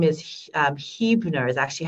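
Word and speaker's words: Huebner: this is dawn da WN last name is Hebrew nur is actually how she pronounces it but it's spelled H u.e.b and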